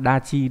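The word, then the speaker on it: 達: Nó nó đọc là dachi, đúng không?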